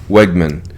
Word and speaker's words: Wegman: Wegman. William Wegman, I believe, is how he pronounces it.